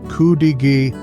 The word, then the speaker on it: Cudighi: Pronounced Cudighi, this sandwich traces its roots back to the early 20th century when Italian immigrants settled in the area's mining towns.